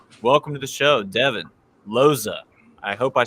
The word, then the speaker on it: Lozej: Welcome to the show, Devon Lozej. I hope I said it right. How was that? That's all right. Lozej it is. Lozej.